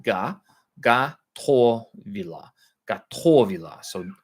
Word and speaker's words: Готовила: With Russian, the soft a or soft o, the unaccented o is pronounced a, and the accented o is pronounced o.